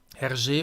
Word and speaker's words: Hergé: Hergé, auf Französisch ausgesprochen, setzt sich aus den Initialen Georges Rémy ein. Er hat also Buchstaben RG, und daraus hat er dann seinen Namen gemacht. RG.